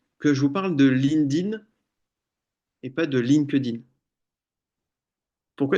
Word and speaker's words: LinkedIn: que je raconte ça pourquoi est-ce que je vous parle d'un lindine et pas lin kedine qu'on entend tout le temps parce qu'en fait lin kedine ça se prononce lindin c'est important mine de